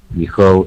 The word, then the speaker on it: because: All right, Lan, just be careful with because. Because Yeah, because that's it. Yeah, there's a Z sound at the end of that one.